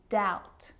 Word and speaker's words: doubt: examples subtle depth and doubt so seeing all of those examples my lips aren't closing and coming together to form the B sound I'm just pronouncing the T subtle depth and doubt